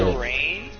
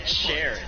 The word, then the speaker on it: Sheeran: Shireen? How do you say Ed Sheeran? It's Ed Sheeran. How is it Sharon when it has 2 E's? It's how he says it. That's how everyone says it.